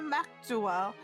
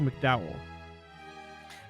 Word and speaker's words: McDowell: I can contact Mayor Maxwell and the Crossville government so that's it's a weird way to pronounce it it is pronounced McDowell McDowell and the crossfell government